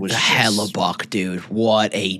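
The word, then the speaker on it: Hellebuyck: More so the US was Hella Buck, dude. What a G. Is that how you pronounce his name?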